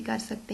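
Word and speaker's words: chorus: अब आप देख रहे हैं कि यहाँ पे कोरस वर्ड है और उसको के की साउंड, सी एच जो है वो के की साउंड दे रहा है।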